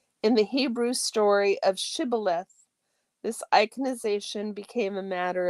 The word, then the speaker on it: Shibboleth: When he said no, they said to him, "Then say Shibboleth." And he said Sibboleth, for he could not pronounce it right.